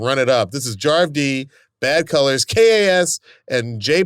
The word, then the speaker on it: Jarv D: And Jarv D. It's like Harv with a J. That's Jarv.